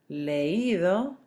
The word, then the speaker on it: leído: The spelling changes, remember you're accenting the I so that you don't have a diphthong form and make it one syllable. So, oído, leído, traído, caído.